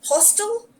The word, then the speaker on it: hostel: simple hotel um so pay attention to the pronunciation hostel but hotel hostel hotel okay now this is